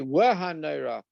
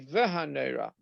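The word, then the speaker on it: נורא: So sometimes the vav is actually a wav, wow. So some people would say Wahanera. That's from the Eastern countries, and in Europe you say Vahanera.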